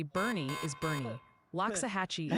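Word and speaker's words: Boerne: Loving Tate dropping in with a Bro just got pronunciation guide for completely us. cut off. They say Bernie is Bernie.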